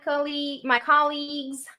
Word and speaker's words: colleagues: Okay, remember, colleagues. The stress is in ca. Repeat, colleagues. Colleagues. Pay attention if you're saying colleagues. It's not colleagues. This is wrong. The correct is colleagues, okay?